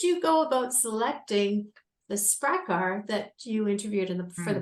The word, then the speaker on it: Sprakkar: And, the title of the book is Secrets of the Sprakkar.